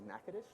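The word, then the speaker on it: Nacogdoches: by the way it's a small town the pronunciation is NACA dish yeah yeah Street for tea I know they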